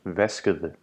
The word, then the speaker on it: vaskede: Washed, which in Danish is vaskede, is pronounced vaskede. The combination ede is pronounced with a soft D, so it becomes ede.